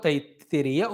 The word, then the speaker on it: Taittiriya: Tittiri bird, therefore Taittiriya Upanishad. Taittiriya.